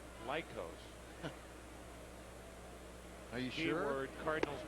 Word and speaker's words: Lycos: It's pronounced Lycos.